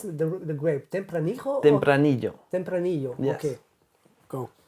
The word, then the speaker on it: Tempranillo: How do you pronounce the grape? Tempranillo?